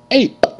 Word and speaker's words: ape: a p a p ape ape e is silent okay now I'm going